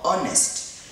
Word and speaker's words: honest: No, we say honest. This H is silent.